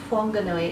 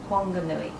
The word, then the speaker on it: Whanganui: that I've seen H but anyway it's not pronounced Whanganui it's pronounced Whanganui but then you've got other place names like